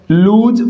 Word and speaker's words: loose: पहला वर्ड हमारा क्या है, लूज, और ये क्या है, लॉस है। नहीं साथियों, इसका भी उच्चारण क्या होगा, इसका भी उच्चारण होगा लूज।